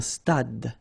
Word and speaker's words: stade: Un stade. Same thing here. Final E is not pronounced. Un stade.